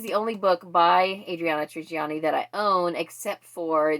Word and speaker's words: Trigiani: I've been saying her last name wrong, apparently, because the audiobook narrator pronounced it Trigiani. I think I said Trigiani.